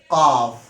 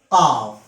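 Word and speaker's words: قاف: Its pronunciation in English is Q-A-A-F, qaf. It is a heavy letter and it is an emphatic sound of the letter K. It emerges from the deepest part of the tongue, what lies against the soft palate.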